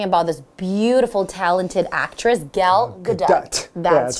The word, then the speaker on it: Gal Gadot: So we're still talking about this beautiful, talented actress, Gal Gadot. That's it's not an easy name to pronounce, is it? I know, it took me a few practice to get her name right. Gal Gadot.